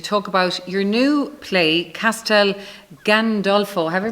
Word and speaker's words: Castel Gandolfo: be here to talk about your new play Castel Gandolfo have I pronounced it correctly right yes yes there'll be